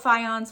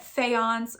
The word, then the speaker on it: faience: And if you didn't know what faience was, I did have to look up how to say this. You can either say it faience or faience, and it is the term for tin glazed pottery.